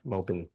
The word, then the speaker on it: Melbourne: we live Melbourne not Melbourne it's melbour Melbourne melbin melb melb I think we're saying it wrong